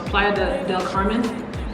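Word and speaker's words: Playa del Carmen: city so like planned is it playa or playoff no it's playa de del carmen yeah and riviera ramara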